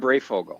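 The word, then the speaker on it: Breyfogle: say the name brief oil um oh norm brayfogel yeah bray fogel yeah yeah he was a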